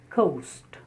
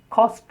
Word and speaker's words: coast: The next word, 21, is coast. C-O-A-S-T. Coast. You should be able to differentiate between cost and coast.